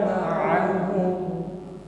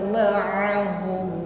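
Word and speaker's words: معهم: ya, yakhrujuna ma'ahum ya, lunak saja pengucapan huruf ain yang keluar dari makhraj wasatul halqi, tenggorokan bagian tengah. Jangan tenggorokan ke bawah, jadinya menjadi huruf hamzah ma'ahum ya. Naikkan satu tingkat di tengah tenggorokan dan lunak saja pengucapannya.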